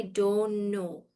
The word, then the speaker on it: don't know: We actually say I don't know. Don't know. There's no T in the pronunciation of don't know.